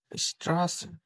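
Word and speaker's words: Straße: ব্যবহার করা হয় যেমন এটার উচ্চারণ হবে এসব উচ্চারণ যেমন স্ট্রাস স্ট্রাস যেমন ওয়েব বি বা এস সেটের জায়গায়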